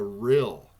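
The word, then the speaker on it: rille: lava flow in fact they call it a real and it's spelled r-i-l-l-e and their best guess on this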